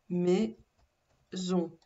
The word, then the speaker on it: maison: Il était le souffre-douleur de la maison, de la maison, deux syllabes, maison. Donc il n'y a pas deux S parce que vous entendez le son Z, maison, virgule.